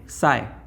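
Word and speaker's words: psi: ये जो त्रिशूल आपको दिख रहा है ये एक मैथमेटिकल टूल है जिसको हम लोग क्या कहते हैं बच्चों, पी साइलेंट साई।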